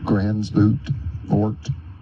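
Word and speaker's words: Gansevoort: Grant Cottage National Historic Landmark in Gransvoort, New York. You can pronounce it Gansevort, New York.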